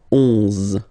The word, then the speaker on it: onze: 11, okay, so O plus N give you the sound on, onze, onze, okay, final E doesn't exist phonetically, onze, okay, 12, 12,